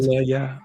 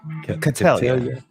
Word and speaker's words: Catelia: Now I've heard her name pronounced so many different ways, but Catalan. I do believe it is pronounced Catelia. Catelia.